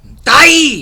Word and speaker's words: dai: And she goes, Dai, which is D-A-I.